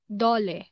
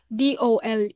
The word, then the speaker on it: DOLE: Like, for example, the word dole. So we don't say DOLE, we say dole for Department of Labor and Employment.